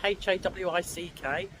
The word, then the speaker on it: Hawick: So, a lovely peaceful night in Hawick, which I'm told is how you pronounce it, Hawick.